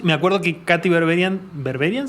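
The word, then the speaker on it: Berberian: acuerdo que katy berberián berberián se pronuncia de berbería tiene como la versión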